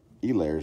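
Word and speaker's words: Helaire: actually pronounced Clyde Edwards El Lay's name wrong the H is actually silent yeah so this is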